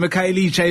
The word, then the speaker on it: Khayelitsha: All the way from Khayelitsha. Am I saying it right, Dad? Yeah. All the way from Khayelitsha in Makaza.